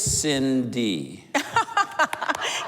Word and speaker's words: Cindy: get things rolling Cindy I've heard your name pronounced a couple of different ways and I just for once and for all on television let's put that behind us it is it is Cindy yes okay and it is orange